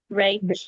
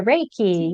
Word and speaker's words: Reiki: the financial services to becoming sorry if I pronounced this wrong, a rea master. Is that right? Yeah. Reiki.